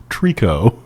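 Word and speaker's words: tricot: That's like lined with what is spelled triccot, but I am reliably informed it's pronounced trio.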